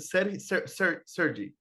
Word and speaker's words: Sergi: Is it Sergi? Well, I grew up with Spanish-speaking people and English-speaking people, so both pronunciations would be fine. Sergi, Oh, okay.